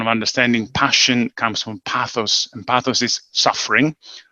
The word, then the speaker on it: pathos: that the pronunciation pathos pathos um well it depends who you wanna usually you pronounce it a bit like the third in english by hypothesis and actually in greek we're saying pathos which is the suffering